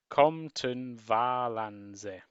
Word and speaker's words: Compton Valance: So after three, say with me, one, two, three, Compton Valance. You've got it. Okay, so you seem to pronounce the third syllable, so it's Valance, apparently.